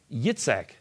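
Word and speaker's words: יצחק: Even today, the Jewish pronunciation for Isaac is Yitzhak, with the emphasis on the last syllable.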